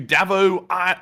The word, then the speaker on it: Davo: And this one goes to Davo LBC once again who puts in a 10. He said, "My name is pronounced Dave O LBC."